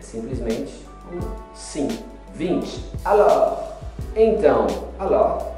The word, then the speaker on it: alors: Alors. Então, alors é então. Alors, não pronuncie o S.